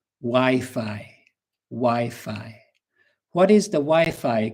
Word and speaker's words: Wi-Fi: Um so be careful with the pronunciation. If you go to Ireland, England, USA, Australia and you ask for the wei code, nobody will understand you. Wifi.